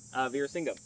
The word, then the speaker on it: Veerasingam: Veerasingam.